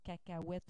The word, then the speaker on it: cacahuète: dictionnaire sous cette forme cacahuète aussi que l'on prononce toujours avec O U donc la graphie étrangère